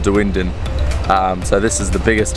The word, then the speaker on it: Dunedin: in the wind and I thought it was called dune dune but I've been speaking to some locals and I think it's called the windin so this is the